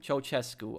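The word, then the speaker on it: Ceaușescu: Ceausescu. Okay, that's how you pronounce the name.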